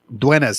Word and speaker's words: Duenas: Duenas.